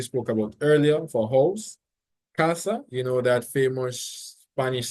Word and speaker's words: casa: The same thing applies for casa. So that's why you go high and then you come down on the second part. So you say casa, casa, mesa, mesa, because that's where the emphasis goes.